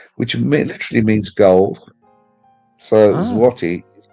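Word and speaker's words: złoty: So, Polish money is called zlotti. Yes, zlotti, which literally means in Polish, it's actually called zati. The L is pronounced as a W in Polish.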